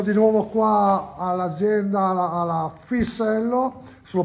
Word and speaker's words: Fissello: Allora, sono di nuovo qua all'azienda, alla Fisello, se lo pronuncio giusto, Giustissimo, giusto, giustissimo.